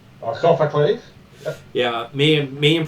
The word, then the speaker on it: Sophocles: references to the children of Sophices as this Sophocies. Sophocles. Yeah, me and pronunciations, not great.